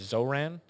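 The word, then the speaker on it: Zohran: I'm pretty sure it's Zoran Mamani is the way he pronounces it.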